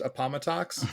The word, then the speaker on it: Appomattox: I believe it's pronounced Appomattox. Oh, I'm sorry.